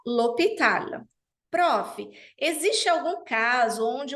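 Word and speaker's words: l'hôpital: preciso fazer a elision l o hospital mesma coisa profe mas o h é consoante sim mas aqui ele é mudo aqui o h é mudo portanto a elision também se faz necessária eu vou falar lopital profe Existe algum caso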